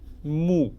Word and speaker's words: 木: Mu. It looks like a straight tree. So mu actually wood. Mu, mu. And another one.